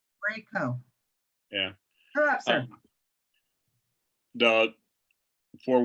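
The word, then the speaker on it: Kraków: It's long A, long O. Craco. Krakow.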